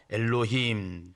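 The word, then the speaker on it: אלוהים: 다르기 때문에 우리 한 번 배워 나도 괜찮아요 엘로힘 따라서 엘로힘 아 발음 좋아요 다시 한번 엘로힘 예 2 엘로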